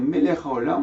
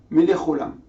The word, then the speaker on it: Melech HaOlam: Bruch Ata, ou bien au lieu de dire Melech HaOlam, on dire Melech Olam.